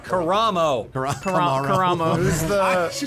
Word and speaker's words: Karamo: Kamara. Karamo.